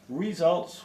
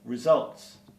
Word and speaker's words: results: frequently mishandled is results it is often pronounced results with an incorrect stress it should be results the problem is that